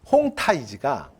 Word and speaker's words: 홍타이지: 그리고 그의 8번째 아들 홍 타이지가 그러니까 이제 우리식 표현으로 하면 한자로 표기해서 우리가 도금하면 홍태씨라고 우리가 그냥 도금을 해요 얘네식의 발음으로 하면 홍타이지 여덟 번째 아들이야 위의